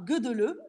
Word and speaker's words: Gödöllő: Alors, ce n'est pas Gödöllő, même si ça s'écrit Gödöllő. Lucas, ce sera Gödöllő avec l'accent hongrois.